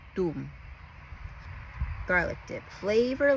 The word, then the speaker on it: Toom: costu it is called Tom garlic dip which I think with the accent they pronounce it Doom garlic dip flavor like